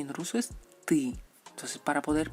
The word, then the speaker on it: ты: Tú, el pronombre tú, y en ruso es ты. Entonces, para poder pronunciar tú en ruso, tenemos que conseguir este sonido. Ты, ты, ты. No es ti.